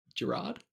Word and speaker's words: Gerard: Gerard? Is it Gerard? Yeah. It's definitely Gerald. It's definitely Gerard. Is it Gerard? Yeah, it's definitely Gerard. Sorry, man. Oh, it is Gerard. Oh, We can call him Gerald if it makes you feel better.